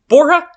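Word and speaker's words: Borja: You play as Mark Boura. Bora. Okay, here's how it's spelled.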